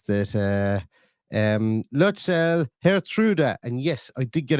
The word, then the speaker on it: Lutsharel Geertruida: linked by Romano today, where he says that Lutsharel, Geertruida, and yes, I did get a Dutch person to pronounce that for me, and I wrote it